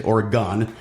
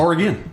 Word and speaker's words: Oregon: A lot of people say Oregon. You're saying it correctly. It's Oregon.